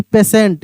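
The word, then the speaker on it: patient: Word आपका लिखा रहता है पी ए टी आई ई एन टी। और आप कहते हैं इसको पेटेंट या आप ऐसे सिंपल तरीके से बोल देते हैं कि पेशेंट।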